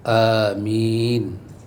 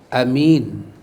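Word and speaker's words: آمين: 1 para ulama menyatakan yang paling fasih adalah bacaan dia itu dengan apa dengan memanjangkan dan meringankan bacaan mim dengan memanjangkan dibaca panjang amin yang kedua amin Bil kasir baca pendek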